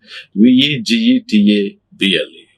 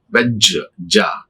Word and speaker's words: vegetable: And V-E-G-E-T-A-B-L-E. What is that? Vegetable. Vegetable. We should not mispronounce this one. Vegetable. Vegetable. Veg-ja. That is a veg, not vegetable. Unnecessarily, many people, they pronounce ja sound.